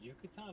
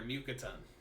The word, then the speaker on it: Mukatan: Sorry, Drew, did you say Yucatan or Bucatan? Neither. Mukatan. Like Oh, mucus.